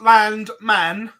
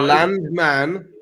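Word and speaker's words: Landman: is beating Barry Keen can you say it properly Chris land man the land man land man Steve Lennon five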